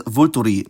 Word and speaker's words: vulturii: the end, like vultur, which becomes definite as vulturi. Notice how both e's are now pronounced.